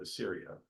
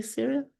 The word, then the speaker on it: Assyria: So initially to northern Israel, and then eventually, I think, to Assyria, much later in time, unless I misunderstood you. Did I say Syria?